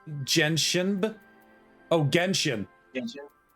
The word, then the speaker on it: Genshin: I think I'm going to turn on Jensen. Genshin.